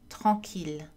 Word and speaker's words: tranquille: Il existe trois exceptions, mille, ville, tranquille. Ces mots ainsi que leurs dérivés, million, village, tranquillité, etc., sont prononcés avec le son L.